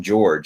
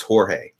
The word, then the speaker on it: Jorge: working at the restaurant i kept calling him george and it was jorge right but he he